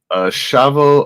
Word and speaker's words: Asha: for joining us um no not pronouncing it right it's Asha as with the accent as Asha okay yeah I'm trying